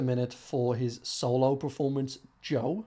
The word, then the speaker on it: Djo: for his solo performance Joe which I think that's how he said you pronounce it. It's either that or DJO or the Joe.